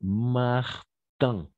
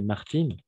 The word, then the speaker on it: Martin: Dans quel cas on va prononcer Martine? Féminin, d'accord? Martine, fine, de la même façon. Cuisine, cuisine, cuisine, oui, cuisine, cuisine, d'accord? In. Mais par contre, on va prononcer Martin, fin, cousin, etc.